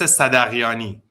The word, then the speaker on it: Sadaghiani: Well, in Farsi, it's actually Sadaghiani, but we don't have Sadaghiani. the sound in English. So the H is silent, basically.